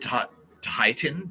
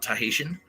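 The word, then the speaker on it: Tahitian: know what I mean you said tahitan not tahesian I thought you were a writer you can't even spell esophagus.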